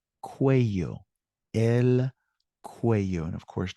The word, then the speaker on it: cuello: With a double L. Good. And it's pronounced cuello.